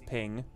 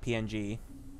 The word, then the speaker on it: PNG: King led never led I pronounce ping his ping not PNG are you yeah the ping thing is funny like I never said ping I say PNG yeah I think my